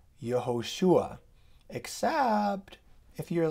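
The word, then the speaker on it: יהושע: really really bad pronunciation Israeli say yoshua and if they say it really fast they say Yeshua and you know I've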